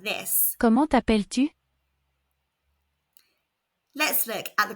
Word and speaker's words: Comment t'appelles-tu: The T at the end of comment is silent. The double L in appel makes the E before the L's say e, and the S at the end of appel is silent. And the U in tu makes a short oo sound.